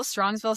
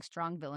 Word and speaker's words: Strongsville: I was saying Strongville and it's an S. So Oh, it's yeah. Strongsville.